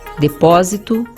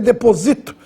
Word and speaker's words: depósito: depósito outra palavra importante agudo no o para você não ler deposito deposito é o verba seria paroxitono substantivo interessante a próxima palavra